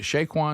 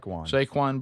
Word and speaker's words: Saquon: the actual the big story was is it Shaquin? Is that how you say his name? the running back Barkley uh is it Shaquin Barkley Saquin Saquon Barkley beast that that he was like hanging